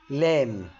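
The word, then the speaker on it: lamb: سكين ني يعني ركبه برض حرف البي لو ج قبليه حرف الام البي لا ينطق زي كلمه كوم كلمه كوم يعني مشط تم يعني مقبره لام يعني الحمل او الخروف الصغير الجي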